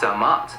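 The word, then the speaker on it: Dʿmt: joe rogan i know it looks like dmt but it's pronounced damat was formed in the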